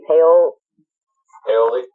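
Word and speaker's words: Paole: How you pronounce his name? Paoli.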